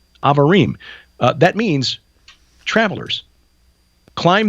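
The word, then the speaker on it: Abarim: in the English translation, it's spelled A B A R I M pronounced Avarim. Avarim uh that means travelers climb this mountain of the travelers.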